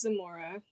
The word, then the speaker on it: Zamora: Just for starters, my name is pronounced Zamora, not Thank Zamora.